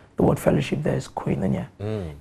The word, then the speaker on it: Koinonia: The name again, I've been trying to pronounce it. It's Koinonia.